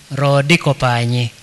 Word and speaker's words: Rodikopanyi: I speak some of the Luo, so I can pronounce it almost like a Luo speaker, Rodikopanyi.